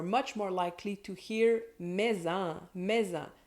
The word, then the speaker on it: mets-en: In informal conversation, you're much more likely to hear "mets-en", that can even be pronounced "mazen".